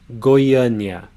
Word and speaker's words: Goiânia: So let's break it down into the three syllables. Goi, nya. Goiânia.